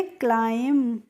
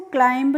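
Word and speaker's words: climb: तो इसको हम पढ़ेंगे क्लाइम। यहाँ पे जो फ्रेंड्स बी होती है लास्ट में, इसको हम नहीं पढ़ते हैं, यानी कि इसको साइलेंट रहती है, इसीलिए हम इसको क्लाइंब नहीं पढ़ते हैं।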